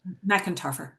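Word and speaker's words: McEntarfer: Uh, and can I ask how do you pronounce her last name? Erica McIntoer. Macintoer.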